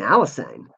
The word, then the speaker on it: Alysanne: Oh, Queen Alysanne. Or Alysanne. Is it Alysanne? Yeah, sorry. I keep on mispronouncing it because I want to say it in the French way.